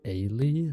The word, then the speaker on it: Ailey: Her name is pronounced Ailey, like Haley, without the H.